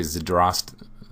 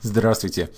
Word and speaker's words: Здравствуйте: small, tiny little details, like rolling your D, right? And not saying D. See, it's hard for me to do it when I go to speak Russian. Zdravstvуй, I can't pronounce Russian properly if I do that. My mind is even rebelling at the thought because it's learned the correct way to pronounce the words. So I don't say zdravstvуй. I can't even do it.